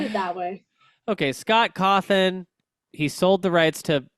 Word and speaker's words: Cawthon: Scott Kaufman? Kaufman. Hofflin? Kaufman. Cawthon?